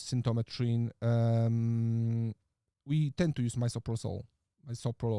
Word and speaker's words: misoprostol: We tend to use misoprostol. That's how it's pronounced.